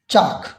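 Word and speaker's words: chalk: For example, इसके example को हम देखते हैं, जैसे कि हैं चाक, काम, पाम, वॉक, कुड, हाफ और है टॉक। अब इन तमाम वर्ड्स में देखें, हमने जो एल है उसको प्रोनाउंस नहीं किया, उस एल को जो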